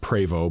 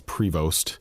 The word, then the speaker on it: Prevost: It's pronounced Prevo, but a lot of people think it's Prevost.